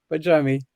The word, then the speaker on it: Bajrami: untangled healing and with me today pajami hello in heaven hello everybody and well done on pronouncing my surname correctly um so I'm very